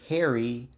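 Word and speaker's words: Pherry: a character named Taylor Harry Harry spelled p h e r r y the p is silent and it is about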